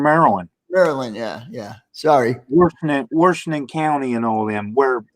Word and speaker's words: Washington: not wars it's wash just like you wash your hands okay it's washington i i get everybody